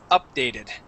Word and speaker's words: updated: for you okay um the accent goes at the very beginning it's updated updated okay it's not new